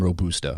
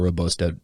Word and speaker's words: robusta: are two major families of coffee arabica and robusta or robosta robusta depending on your pronunciation arabica coffee is the better tasting the